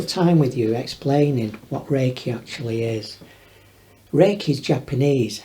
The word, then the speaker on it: Reiki: only when the two KES come together and pronounced Reiki actually represents universal life force energy rake is